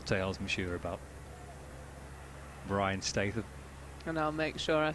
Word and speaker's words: Statham: The Brian's Statham end. Is that pronounced correctly?